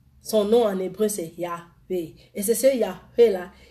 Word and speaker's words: Yahweh: Yahweh, ça veut dire Yahweh avec 4 syllabes. Le Y, le H, le W et le Y. Le Y, le H, le W et le H.